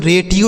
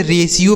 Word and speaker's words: ratio: अगला शब्द है RATIO, इसे बच्चों रेटियो नहीं पढ़ेंगे, रेटियो, रेटियो गलत उच्चारण है, इसे रेशियो पढ़ा जाएगा, ठीक है।